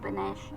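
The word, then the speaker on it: panache: पी ए एन ए सी एच ई पनश noun.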